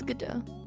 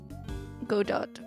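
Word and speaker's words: Godot: We mispronounced GDO for or sorry, Gdat. Gdo. Gda. It's gdo. How did we say it? Go dot and then go and then good. We said godo, but we didn't we did godo, but not good.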